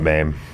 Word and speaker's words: MAME: Like in 2024, the MAME. Is that what it's called? How do you say it? MAME. Well, I think they call it MAME.